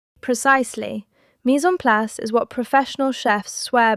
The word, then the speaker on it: mise en place: This is a French phrase, pronounced mise en place, and it means having everything prepared and in place before you start cooking.